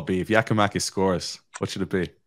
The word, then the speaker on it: Giakoumakis: Beautiful pronunciation, Sydney. On, say it again, Sydney. Jorgis Giakoumakis.